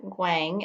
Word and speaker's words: guang: we click on that guang is how that's pronounced so this guang features